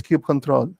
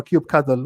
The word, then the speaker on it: kubectl: Everything is kube control or kubectl, whatever the way you want to pronounce it.